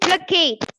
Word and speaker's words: placate: Placate. So stress on the It makes someone feel. stress on the Second syllable.